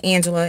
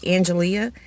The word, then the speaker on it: Angelia: But my name is spelled just a little bit different. It's spelled A-N-G-E-L-I-A, like Angelia. And I do get called Angelia by a lot of people.